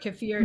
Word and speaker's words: kefir: but when I started making kefir or kefir depending on how people pronounce it that's totally new to